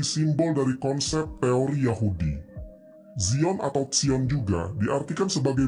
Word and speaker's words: Zion: Zion adalah pengucapan dalam bahasa Inggris. Dalam bahasa Latin akan disebut Sion. Dalam bahasa Ibraninya adalah Sion.